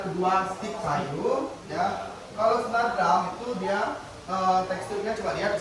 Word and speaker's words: snare drum: Nah, yang pertama itu tadi ya, bukan snare drum ya.